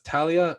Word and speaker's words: Talia: couple questions for talia um by the way talia's name is pronounced talia not talia for the us people that are